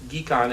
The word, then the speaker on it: GHECon: So we've instituted an effort as part of the Global Health Economics Consortium, which I prefer to pronounce GHECon as in get your geek on.